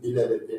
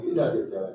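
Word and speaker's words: Philadelphia: 여러분 빌라델피아, 우리 미국에 필라델피아라는 도시가 있는데 이제 한국 사람들은 빌라델피아 이렇게 발음을 합니다. 실질적으로 영어 발음이 필라델피아가 됩니다.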